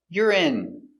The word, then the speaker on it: urine: Yur I I urine stress on the first syllable.